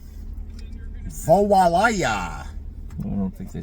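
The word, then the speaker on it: voilà: People pronounce French words different, too. Yeah. Like voyola. Mhm. But it's voila.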